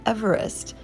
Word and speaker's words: Everest: the mountain after george everest first using the spelling mont everest and then mount everest however the modern pronunciation everest was originally pronounced eve rest which is the english form of eve's name which in hebrew is